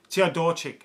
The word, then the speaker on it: Teodorczyk: Obviously, their main man, Teodorczyk, that's how you say it.